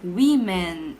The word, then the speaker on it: women: O mesmo para woman, que fica women, olha a pronúncia diferente, woman, women, no plural.